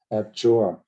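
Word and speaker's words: abjure: f jour f and the stress is on the second uh syllable is on the second syllable fjor a b j u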